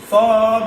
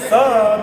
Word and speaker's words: ص: সদ শিখতে পারলে সহজে শেখাতে হবে কিন্তু দোয়া সদ হরফটা উচ্চারণ সামনে নিচের দাঁতের আগা থেকে শীর্ষ মোটা হবে কি হবে শীর্ষ মোটা হবে। মোটা করে করতে হবে তা আমরা বলবো সদ অক্ষর সামনের নিচের দাঁতের সদ অক্ষর সামনের নিচের দাঁতের।